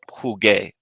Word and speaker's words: jugué: The only way we can maintain that is by inserting a U, which becomes silent in front of the A. And when G is followed by U, it gives the hard G sound. So it helps us maintain the original sound.